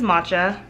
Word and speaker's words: Matcha: My name is Matcha, pronounced like Tasha, but with an M.